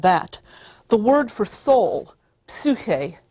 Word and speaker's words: psyche: The word for soul, psyche in Greek, psyche, as it's usually pronounced in English, originally seems to simply have meant the breath, the thing that visibly leaves the body at death.